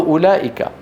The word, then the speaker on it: أولئك: الرحمن، الله جل جلاله، حروف مكتوبة ولا تنطق، وقلت بالأمس مثل واو أولئك، أولئك على هدى من ربهم، ما أحد يقول أولئك على هدى من ربهم.